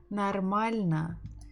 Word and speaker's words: нормально: So we have O, but I said na. Okay, this is a very ugly A. So let's make it a little bit thinner. So I said нормально.